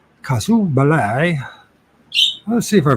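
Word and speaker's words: casus belli: fuse of a uh cause casu ballet Bal is how you pronounce it kasu Bal let's see if I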